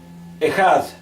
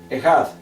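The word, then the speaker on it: אחד: tenemos a la derecha tenemos ejad así está la pronunciación ejad que quiere decir uno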